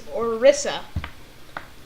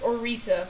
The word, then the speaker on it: Orisa: Her actual name is Orisa. Okay. Sometimes pronounced Orisa, but...